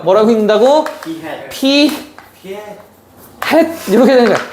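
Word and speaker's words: p̂: 읽을 때는 P 햇이라고 읽어요. 뭐라고 읽는다고? P 햇 이렇게 되는 거야.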